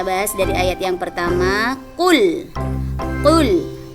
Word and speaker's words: Qul: Kita bahas dari ayat yang pertama, Qul. Qul. Qul di sini qaf. Jadi bacanya qul, bukan kul.